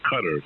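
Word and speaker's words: Qatar: 71 kilo kilo uh in quotar Q a t a r I guess that's how you say it yeah uh yeah they they call it cutters they call it cutter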